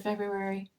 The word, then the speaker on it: February: use the word February make sure you spell it right because it's got you know we don't when you say it kind of the r isn't in there whoops but um so